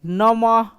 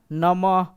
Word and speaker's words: नमः: तो इसी प्रकार से नमः नमः ह का उच्चारण अंत में करना। जैसे लिखेंगे श सॉरी स लिखते हैं तो स होता है क्या होता है ये श होता है क्या होता है स लेकिन इसको अगर ऐसे बोल देखा जाए क्या हुआ स हुआ ना ह का उच्चारण आ रहा है और ऐसे विसर्ग का मतलब ही होता है ध्वनि जो होता है